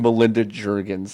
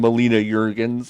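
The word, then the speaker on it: Melina Juergens: situation um but he he definitely said Melinda Jurgens and I think you pronounced her name Molina Jurgens I believe yes um she did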